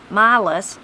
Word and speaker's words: Miles: before he went west miles pronounced milos was a member of